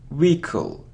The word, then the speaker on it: vehicle: we pronounce this word it isn't vehicle or vehicle no it's vehicle Rico so we don't pronounce age wicka-wicka-wicka-wicka look it